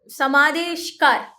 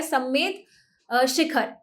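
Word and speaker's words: सम्मेद शिखर: वासुपूज्य की निर्वाणा स्थल जो है वो समा समा समादेशकार, sorry for my pronunciation, right, समेद शिखर, इसका जो करेक्ट प्रोनाउंसिएशन है वो है समेद शिखर, राइट।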